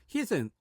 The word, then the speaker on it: heat: 여기서 heat은 HEAT는 뭐 입을 옆으로 찢어줘야 됩니다. The heat, HIT 때리다 이럴 때는 뭡니까? 입술은 입 모양은 그 변화는 없습니다. 그냥 heat 이렇게 편하게 발음해 주면 되고 heat 따라해 보세요. heat. 네, 발음이 완전 다르죠.